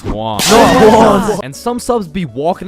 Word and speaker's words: Juan: That's just how it's pronounced. Juwan? Is there Juwan in the room? It's Juan.